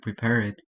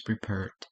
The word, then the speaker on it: prepared: After a t and a d. So in this case, want, we can pronounce it wanted. But here, the end word is not T or D. That's why we should pronounce prepared with this end, not with prepared. It's not prepared, it's prepared.